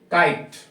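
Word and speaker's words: kite: जैसे यहाँ पे काइट, क्योंकि अंत में क्या आ रहा है, ई, तो जो प्रोनाउंसिएशन होता है उसी के अकॉर्डिंग उसको पढ़ेंगे।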